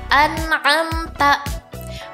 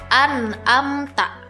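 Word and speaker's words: أنعمت: Pada huruf nun dan mim sukun masih banyak orang yang membaca anam ta. Padahal huruf hamzah makhrajnya ada di pangkal tenggorokan sedangkan huruf ain ada di tengah tenggorokan. Jadi kata yang benar dibaca seperti ini. Anamta.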